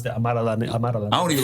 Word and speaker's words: Amara La Negra: That's how you pronounce that. Amara La Negra.